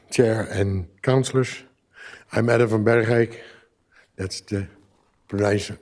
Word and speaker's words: Bergeijk: I'm Adam Berik. That's the pron pronouncing of my name.